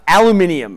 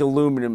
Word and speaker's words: aluminium: Aluminium is like right at the top of my list. Aluminium. But either pronunciation's correct. I don't think aluminum is correct. I think aluminum is just a bastardization.